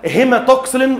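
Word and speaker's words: hematoxylin: لكن انا بخلي بس ودانك تسمعها النطق الصحيح مره. اسمها هيماتوكسلين اللي هو حرف الايه؟ الاتش اند ايوسين اللي هي الصبغه الثانيه.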